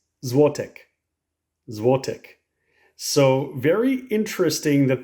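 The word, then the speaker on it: złotych: is really interesting because how you say it depends on the number so this one right here is Juan zote zote and if it's two to four it's pronounced a little bit different and again I'll try my best but this is to zote so it's a little bit different and if it's five or more it's zotek zvotec so very interesting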